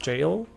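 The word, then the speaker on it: Gaol: of the solitary G I think it's pronounced jail as far as I know like jail like the prison I think it means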